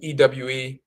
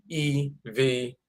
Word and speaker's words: Ewe: The Ewe people, EWE, of Togo and Benin, where this Voodoo comes from, they pronounce their name Ewe, EWE, but some pronounce it Eve, EVE.